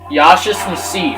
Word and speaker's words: Yaschas Massif: Yaschas Massif. Okay, I know the official pronunciation now.